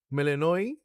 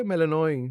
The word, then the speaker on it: Melinoe: Melanoi? Okay, Melanoi. That's apparently how you pronounce it. Because it's like the Greek pronunciation. Melanoi.